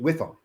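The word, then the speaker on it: WIIFM: w i FM and I always pronounce it whiff them what's the whiff them what's in it for me and they're looking for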